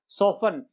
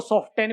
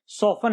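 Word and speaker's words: soften: सॉफन, इसको ऑफ्टन नहीं पढ़ेंगे, ध्यान रखना इस बात को, इसको सॉफ्टन भी नहीं पढ़ेंगे, ये सॉफन है।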